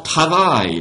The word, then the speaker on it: travaillent: Les étudiants travaillent. Les étudiants travaillent. Resist all temptation to do something with that ENT. Don't touch. Don't pronounce it.